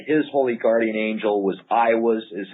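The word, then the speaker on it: Aiwass: that he said his holy Guardian Angel was I was is how I pronounced it is that correct oh yeah I was yeah I was now H how would one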